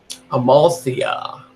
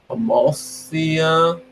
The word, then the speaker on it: Amalthea: hard to see okay Amalthea that's how you pronounce it a mafia a mafia okay so this is saying almost Thea I'll go with that almost iya yeah all right let's see